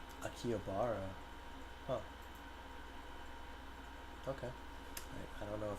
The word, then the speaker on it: Akihabara: titled Girl Genius Gives Lecture in Akihabara or Akiabara. Is it Akihabara or Akiabar? How do I pronounce that actually? Let me look that up real quick. Got to make sure that I'm accurate. Uh, pronunciation. Akihabara. Akihabara.